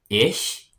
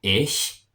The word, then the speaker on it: ich: So the pronouns for I is ich, and the ch has kind of a hissing sound a little bit, kind of like a cat, like a sh. So ich.